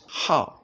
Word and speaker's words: 好: as you can know when you pronounce the word as how then it means to like or to be prong